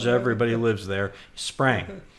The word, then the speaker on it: Spring: Sprang. I know it's spelled with an I, pronounced like an A.